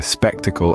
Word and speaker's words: spectacle: includes words like spectator spectacle and spectacular in spectator the stress is on the first syllable spectator moving on to spectacle the stress remains on the first syllable spectac but when we say spectacular